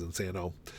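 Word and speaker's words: Insano: week this is inano at least I think it's how you pronounce it as inano it's his night studio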